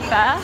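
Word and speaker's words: phở: So it's actually pronounced from a local.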